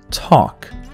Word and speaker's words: talk: Talk. Like I said before, L after A, U and O is silent. And here in this case, L comes right after A. So talk.